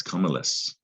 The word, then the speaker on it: cumulus: big pile or heap but in latin it's comeless and that cu there and the mu does not say q mu all right just give